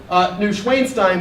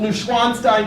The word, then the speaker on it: Neuschwanstein: Right, I first pronounced it Neuschwanstein, which means pig castle, but no, it's the Swan Castle, Neuschwanstein Castle, and this is, in the dead of winter, a phenomenal place to visit.